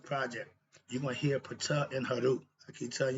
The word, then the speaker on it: Ptah: Let's start with Pata. We spell P-T-A-H, but the P is silent.